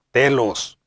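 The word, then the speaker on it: τέλος: La palabra perfecto y perfección vienen de la palabra griega que se pronuncia telos, como pueden ver en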